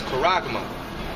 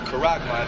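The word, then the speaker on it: χάραγμα: go into the Greek, that word mark is charagma. That's how you say it in the Greek, charagma.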